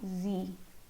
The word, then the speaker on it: sie: She of English is now sie. Now you have another z in German. She is sie. Sie. This z pronunciation.